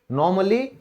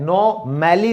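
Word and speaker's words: normally: यदि ए के बाद डबल एल वाई आता है तो हमारा ए साइलेंट हो जाता है। जैसे सामान्य रूप से उसकी अंग्रेजी क्या होती है? नॉर्मली। तो इसमें हम क्या बोलेंगे? नॉर्मली। और यहां पर ये जो ए है ये साइलेंट है, ठीक है। नो मैली नहीं होता, नॉर्मली।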